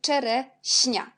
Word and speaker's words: czereśnia: Alors, le mot, c'est czereśnia. Puis, on a le mot ziemniak. On a ZI, on prononce quand Z avec l'accent, c'est J.